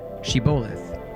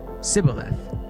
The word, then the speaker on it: shibboleth: And if a man said, "No, I'm not," they would tell him to say, "Shibboleth." If he was from Ephraim, he would say, "Sibboleth," because people from Ephraim cannot pronounce the word correctly.